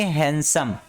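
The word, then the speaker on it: handsome: जी नहीं, यहाँ पे ए वर्ड साउंड, ए जो लेटर है ना, ये साइलेंट रहता है, ए की उच्चारण नहीं होगा, और इसको पढ़ेंगे हैंडसम।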